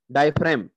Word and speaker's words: diaphragm: DIAPHRAGM है यहाँ पे, तो जी की यहाँ पे प्रोनाउंसिएशन नहीं होगी, तो हम इसको कहेंगे डायफ्राम।